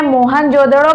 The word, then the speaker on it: मोहनजोदड़ो: मोहन से मोहनजोदड़ो या मोहनजोदाड़ो भी बोलते हैं, मोहनजोदड़ो।